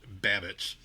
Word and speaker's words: Babicz: It's pronounced Babbitts.